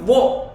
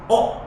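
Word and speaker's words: を: Yang selanjutnya ada huruf wo. Tapi sering-seringnya dibacanya huruf o.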